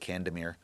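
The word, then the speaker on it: Kandemir: but yeah, so it's it's anglicized. I guess we just pronounce it Candemir. Kadamir.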